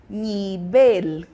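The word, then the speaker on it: nivel: eu tenho nível e no espanhol eu tenho nibel nibel Lembrando que o v tem som de b e o l ele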